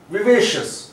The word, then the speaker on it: vivacious: and CIOUS, CIOUS, that is also commonly mispronounced part of the word। ये आमतौर पे लोग इसे शियस कहते हैं, नहीं ये शियस नहीं होता, ये शस होता है।